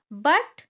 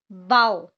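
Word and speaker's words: bow: example से हम समझेंगे बी ओ डब्लू बो एंड बी ओ डब् बाउ तो यहां पर देखो फर्स्ट जो कंडीशन है कि सेम स्पेलिंग है सेम स्पेलिंग यहां पर डिफरेंट प्रोनाउंस एशन है यहां पर हम इसे बो पढ़ रहे हैं और इसे बाव पढ़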